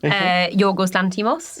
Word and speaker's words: Yorgos Lanthimos: But I did go watch a great movie made by one of your countrymen, Yorgos Lanthimos. Yep. Did I pronounce that horribly?